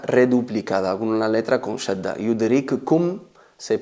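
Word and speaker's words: يدرككم: Veis ahí que hay dos kaf, una muda y otra con damma, pero a la hora de pronunciarlo se escribe con dos, pero a la hora de pronunciarlo se convierte en yudrikkum, yudrikkum. No se escuchan dos kafs, simplemente se oye o se escucha una.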